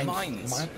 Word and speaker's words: Mainz: How do you pronounce it? Mainz. Mainz. It's Mainz.